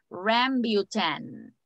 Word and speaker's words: rambutan: We pronounce it rambutan.